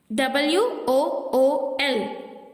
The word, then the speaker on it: wool: இந்த வேர்ட்ஸை நம்ம இப்படி தான் சொல்லணும். Listen carefully. FOOT, foot. WOOL, wool. Foot அப்படி சொல்லக்கூடாது, ஊல் அப்படி சொல்லக்கூடாது. ஏன்னா அங்க இருக்க ஓஓ நம்ம எப்படி ப்ரொனவுன்ஸ் பண்ணோம்? ஊ. ஸோ ஃபுட், உல்.